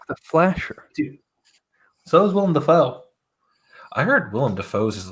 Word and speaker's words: Willem Dafoe: between Henry Cavill and William Dafoe, how big are you? It's Willem Dafoe.